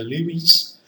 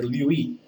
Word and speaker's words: Lewis: It's called, you may pronounce this word or as a Lewis, or you may also pronounce this word the Louis. No problem.